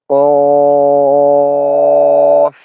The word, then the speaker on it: ق: যেমন কফ, কফ, কফ। তো এটা কেন হচ্ছে এভাবে হচ্ছে? কফ এটা মোটা হরফ, এটা মোটা হচ্ছে।